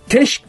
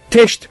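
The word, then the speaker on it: Letsch: kendisini teşt teş evet teşk diye mi telaffuz ediliyor teşk diye okunuyor Evet teşk Thomas teşt Ya teşt pardon sonu t ile bitiyor teşt ya Thomas teşt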